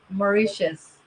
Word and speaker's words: Mauritius: Mauritius.